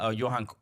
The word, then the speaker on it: Johan: uh Johan cor's autobiography it it is uh Johan as that's how they pronounced I learned quickly um but if you